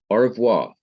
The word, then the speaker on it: au revoir: wrong in my pronunciation, au revoir. A-U-R-E-V-O-I-R, au revoir. I say that so fast that you can hardly hear the E in au revoir.